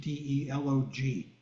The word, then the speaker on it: delog: ever heard of doogs you might spell it in English d e l o g delog doogs are people